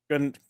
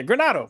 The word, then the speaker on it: Granado: Uh, and then we have I always say your name wrong, so I'm going to just apologize, but Granada Granado. Yeah, Granado. There, we're going with that.